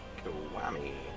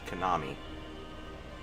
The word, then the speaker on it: Konami: That much was some Yakuza Kowami. It's pronounced Konami.